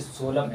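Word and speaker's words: solemn: जिसका मान होता है जैसे सोलम एस ओ एल ई एम ए सोलम ये क्या हुआ ये सोलम हो गया ये एन को प्रोनाउंस नहीं करना पड़े पड़ता है पी कब साइलेंट होता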